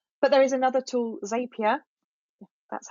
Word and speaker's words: Zapier: a Twitter list but there is another tool zapier that's how you say it but I would